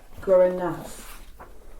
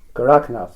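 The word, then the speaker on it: Gorakhnath: historic saints, and I apologise if I haven't pronounced the name correctly. I would like to ask about the wandering saint Guranath. Have I said that correctly? Gorakanath? Goraknath, yes.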